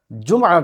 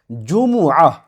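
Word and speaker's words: جمعة: جی الجمعہ، بالکل صحیح، صلاۃ الجمعہ، اذا نودی للصلاۃ من یوم الجمعہ، یہ میم کے اوپر ضمہ ہے لیکن ہم اردو کے اندر جمعہ کہہ دیتے ہیں جس کا تلفظ درست نہیں.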